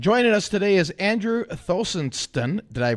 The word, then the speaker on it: Thostenson: 10th uh and joining us today is Andrew thonon did I pronounce that last name right he didn't butcher